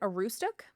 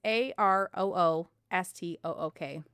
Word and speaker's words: Aroostook: Um I This is a weird thing to pronounce. Is it Aroostook? It's A R O O S T O O K.